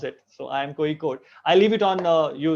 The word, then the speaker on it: Kozhikode: That's how we're supposed to pronounce it. So IIM Kozhikode.